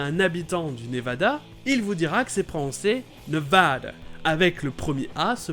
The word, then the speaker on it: Nevada: Mais vraiment si vous êtes au Nevada, prononcez-le "NevAda" avec le son "A".